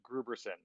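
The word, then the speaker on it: Grooberson: that uh paul rudd's character is uh mr gruberson no that's the correct pronunciation of his name okay thank you for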